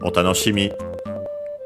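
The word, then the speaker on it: お楽しみ: When we add the honorific prefix, it actually becomes an accent, so be careful. And yeah, I was pretty sure that usually it's an accent, and it is. Because usually you would hear it with the honorific prefix, otanoshimi.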